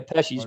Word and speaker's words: Pesci: Yeah, it's Joe Pesci. You motherfucker. Joe It's like Pesci 2 is so syllables.